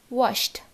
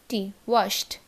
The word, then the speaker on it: washed: ওকে, wash, sh আছে লাস্টে, তো এই ইডিটা কীরকম ভাবে প্রোনাউন্স হবে, washed, WASHT, washed.